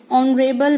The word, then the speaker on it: honorable: The next word, honorable man. Here, H is silent and this word starts from consonant but the sound is coming vowel sound, so I use an.